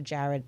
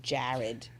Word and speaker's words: Jared: You definitely New York and Philadelphia and Jersey all say my name the same. It's Jared. Jared. And I don't hear it. Jared. Jared. It's Jared. Jared. To me it sounds like Jurid.